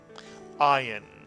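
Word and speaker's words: עין: you right now it's the letter ion this is also a silent letter in Hebrew makes no sound at all you simply pronounce it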